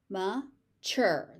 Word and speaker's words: mature: Mature. Mature. The tu becomes a ch.